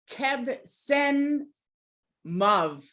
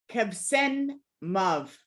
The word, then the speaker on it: Qebsenmuv: And the west is Kebsen Mav. Kebsen Mav. Kebsen Mav. And it actually is spelled QEBSENMUV.